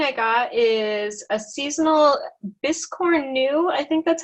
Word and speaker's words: biscornu: The other thing I got is a seasonal biscorn new. I think that's how you say it. Yes. We've been going around the house calling it a biscorny. Biscornu.